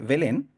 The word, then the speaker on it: Belén: casa de Dios ya betlem betlem porque así se escribe Belén nosotros está traducido al español como Belén pero es betlem significa casa de pan Eso significa Belén